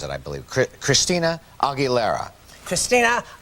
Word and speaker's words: Aguilera: Christina Aguilera. Christina Aguilera.